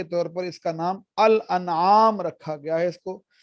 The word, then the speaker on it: الانعام: ہے وہ اس کو بعض لوگ انعام پڑھ دیتے ہیں، یہ اس کا درست تلفظ نہیں ہے الانعام، کیونکہ انشاءاللہ جب 8ویں